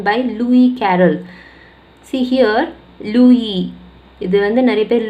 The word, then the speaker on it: Lewis: See here, லூயி, இது வந்து நிறைய பேர் லூயிஸ் படிக்கக்கூடாது, எஸ் is silent here, லூயி carol.